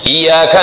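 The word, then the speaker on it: إِيَّاكَ: Maliki Yaumiddin, Iyyaka na'budu wa iyyaka nasta'in, pakai tasydid. Iyyaka na'budu wa iyyaka nasta'in. Kalau tidak pakai tasydid, iyyaka artinya matahari.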